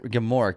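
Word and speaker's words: Gmork: before we get attacked because it's spelled GM o RK and gamor is this awesome terrifying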